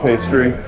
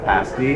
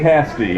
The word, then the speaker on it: pasty: I feel like I should try the Cornish pastry. Okay, yeah. Pasty. It's pronounced pasty. Pasty, It rhymes okay. with nasty. It's tasty pastry. Tasty It's a little pastry. fun rhyme for you. Alright, the Cornish pasty.